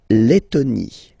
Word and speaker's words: Lettonie: So remember when you've got this E and then a double letter like that, T, okay, then you will have to open your E and it will become E, le, Lettonie. La Lettonie.